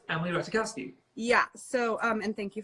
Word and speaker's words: Emily Ratajkowski: was like, oh no, it's Emily Ratajkowski.